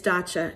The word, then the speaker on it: Dacia: So if you ever wondered, because I have a foreign name, how do you pronounce this professor's first name? It's Dacia. And guess what?